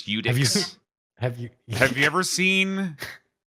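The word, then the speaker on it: Iudex Gundyr: So how do you say Edicts Gunder? I've heard people I say. say Iudex, but I don't proclaim to know that that's right. That's Do you know? I say Udix.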